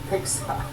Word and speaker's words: PGSA: Persian Gulf Strait Authority, PGSA, pronounced PIXA.